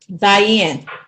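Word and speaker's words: זין: that letter right there that is zen zen zen that's right that makes a z as in zebra what's that numerical value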